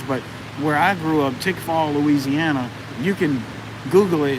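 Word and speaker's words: Tickfaw: more popular areas but where i grew up tick fall louisiana you can google it it's spelled t-i-c-k-f-a-w it's got one red light three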